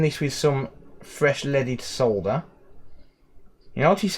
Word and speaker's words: solder: with some fresh leaded solder you notice how in the uk we pronounced solder correctly none of this soda crap there we go so